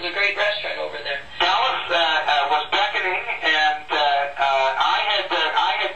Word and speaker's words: Calais: Just like Calais, France, only pronounced Calais.